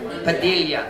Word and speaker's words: Padilla: Daniel Padilla. I've seen his face on posters. Nakabusiness siya dire. How do you pronounce it? Padilla? Padilla, the Spanish name. Padilla.